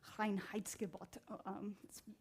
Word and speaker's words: Reinheitsgebot: So So in Germany, there is this thing called the Reinheitsgebot.